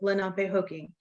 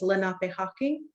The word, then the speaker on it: Lenapehoking: And I was told that the proper way to pronounce our homeland in our dialect is Lenape Hawking. So Hawking, not Hoking. I believe in the Muncie dialect, the northern dialects, they say Lenape Hoking.